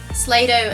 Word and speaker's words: Slaydo: slaydo let's action that slaydo as in rhymes with play-doh yes they should make